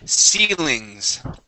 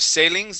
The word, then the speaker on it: ceilings: Okay, the next word I want to practice is the word ceilings. Ceilings. Try that. Ceilings. Yeah, so instead of sailings, it is ceilings, okay?